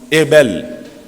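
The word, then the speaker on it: הבל: Le mot vanité, qui se prononce Hebel en hébreu, signifie la vapeur, la buée, le souffle, le vide.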